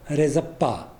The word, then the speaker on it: Rzeppa: My pronunciation is Sheppa, but it is also pronounced as Rezappa. Anyway, I will be pronouncing it as Sheppa.